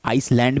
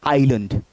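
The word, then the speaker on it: island: तो अब इसको कोई कुछ लोग आइसलैंड भी पढ़ सकते हैं या इसलैंड भी पढ़ सकते हैं। लेकिन गलत है। सही प्रोनाउंसिएशन क्या है? आइलैंड। क्या है? आइलैंड ना कि आईलैंड।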